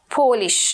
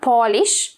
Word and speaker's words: Polish: irish british scottish spanish polish not polish okay or polish is a verb okay when you polish